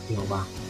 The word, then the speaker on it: Jehová: la grafía yua y con el tiempo de la pronunciación aceptada del nombre divino en español llegó a ser Jehová cuando esta forma de